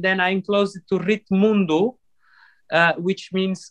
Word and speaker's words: Ritmundo: Because R I T M U N D-O. Oh, like world. World, yeah. It's Ritmundo. It's a play game that I did on the word, because ritmo is the word for rhythm, for rhythm in Portuguese.